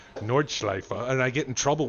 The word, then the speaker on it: Nordschleife: I pronounce the name of a track exactly right, Nordschleife, and I get in trouble with all the